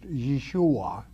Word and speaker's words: Yeshua: father's name y'all day Jesus is Yahweh Savior pronounced Yeshua in in the Hebrew tongue all right y'all